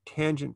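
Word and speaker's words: tanh: functions using cinch and kosh so the hyperbolic tangent function would be the ratio sinch of x over cosh of x and we pronounce that tange of x and its graph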